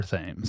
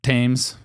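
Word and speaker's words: Thames: the nerds in 1829 on the river ths. Goddamn nerds. Is it ths? Did I pronounce it? Tames. Thesames. Who cares? Tames.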